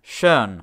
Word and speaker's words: schön: without this accent on compare the words shawn meaning already and chern meaning beautiful motta muta ah did you hear that the vowel sound changed with the addition of the umlaut there was